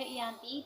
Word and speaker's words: Giyanti: Nama Giyanti ini diambil dari lokasi penandatanganan perjanjian, yaitu di Desa Janti, dan dalam pelafalan Belanda itu sebagai Ianti dan secara tertulis ia sebagai Giyanti.